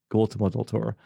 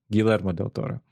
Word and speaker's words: Guillermo del Toro: almost almost messed up again i called him gold to model torah because i was drunk and i couldn't i didn't know how to pronounce it and also dyslexic so i read